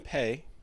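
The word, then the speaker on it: Peay: So Austin Pay.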